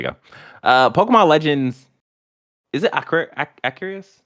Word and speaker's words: Arceus: Okay, RC car, Arceus.